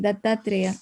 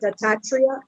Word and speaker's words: Dattatreya: The pronunciation is Dattatreya. How to pronounce it for me, please? You said it right, Govardhanila Mataji, Dattatreya. Oh, it's right, Dattatreya. Okay, okay. I thought I was pronouncing it wrong.